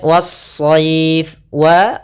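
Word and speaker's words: والصيف: Kemudian was-sayf, was-sayf. Kemudian pada lafal as-sayf kembali sama ada alif lam yang kita tulis tapi kita tidak baca, sehingga langsung kita idghamkan ke huruf shad.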